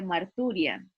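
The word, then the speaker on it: μαρτυρία: del testimonio de jesucristo es una palabra griega que se pronuncia mar turia me llamó mucho la atención porque suena mucho como un martirio verdad como como el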